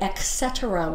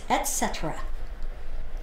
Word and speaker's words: etcetera: at the Bakersfield California I heard him say etc once I heard it etc it's etcetera I'm just saying I'm